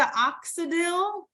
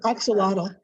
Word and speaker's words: axolotl: This is the Oxidil. I don't know if I said it right. Oxidil. We Googled it. Axolotl.